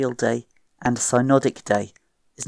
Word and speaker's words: synodic: And you might remember this more easily if you mispronounce synodic as sunodic.